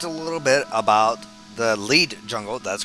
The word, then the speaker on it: Lied: So, the last episode we talked a little bit about the lead jungle. That's correct. Lead, not lied. I've been saying it wrong this entire time.